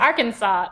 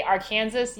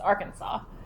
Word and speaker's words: Arkansas: US areas what's that Arkansas again the S is silent I know it's kind